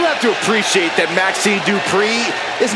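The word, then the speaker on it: Dupri: Michael, it's pronounced Dupree. Representing the Alpha Academy from Phoenix, Arizona, Maxine Dupree.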